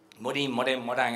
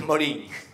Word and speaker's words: Morin: realmente los planteos de Edgar Morin, Morán, a cada país que vamos se pronuncia distinto. Para nosotros creo que es Morin.